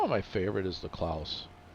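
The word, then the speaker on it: Claas: my favorite is the K Claus that's how you pronounce it not K Claus it's K Claus German brand and you it's really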